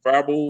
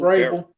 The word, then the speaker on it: Vrabel: I can't pronounce Verbal, Vrabel.